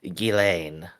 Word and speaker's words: Ghislaine: Gilsane is pronounced Ghislaine.